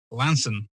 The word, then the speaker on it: Launceston: the Eagle House Hotel in Launceston, or as it's pronounced down in Cornwall, Lanson.